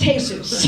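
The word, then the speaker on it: Jesús: Now I know it's pronounced Jesus, but I don't care who you are.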